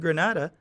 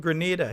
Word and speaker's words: Grenada: they said Granada no the reporter said Granada but they the thing showed Grenada it's not Granada in Spain they're speaking about Grenada here right yeah um you know many of the people mispronounce our country's name so the thing is